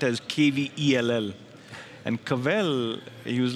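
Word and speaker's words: kvell: It says kavel. It's spelled as K-V-E-L-L. And kavel, he was like, it means you take a step back and just feel the joy.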